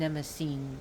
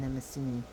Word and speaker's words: Mnemosyne: Urania, and she is the child of Zeus and Mnemosyne, pronounced Zeus and Mnemosyne in America, but the Greek names is Zeus and Mnemosyne.